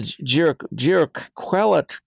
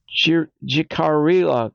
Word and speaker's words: Jicarilla: My mama is from the Jiraquela. I keep saying that name wrong. My mama is from the Jicarilla tribe.